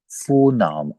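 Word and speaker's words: Vorname: जैसे कि फुन, फो, फो नाम। अब फिर देखें यहाँ पे लफज आर लास्ट में आ गया, तो मैंने इसको साइलेंट फो पढ़ा है, फो नाम।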